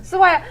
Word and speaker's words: Sawaya: Yes. Yes, I said it right. Yeah. Sawaya.